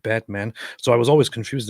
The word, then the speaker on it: Batman: but there is a a place in turkey named botman which just is spelled exactly like Batman so I was always